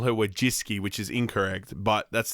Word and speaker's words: Wojcicki: It's actually Wojcicki. Susan Wojcicki. I feel like there's more syllables in there than need to be. Some people, she's responded to anybody that gets it roughly right, but the canonized last name for her is Wojcicki, but people call her